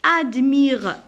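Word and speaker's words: admirent: Admire, je prononce la lettre, je barre la lettre T.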